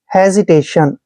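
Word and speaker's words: hesitation: की मात्रा पढ़ते हैं जब भी एस के बाद आई आता है और एस से पहले ठीक ई आता है तो एस का उच्चारण हम ज करते हैं यह ध्यान रखना है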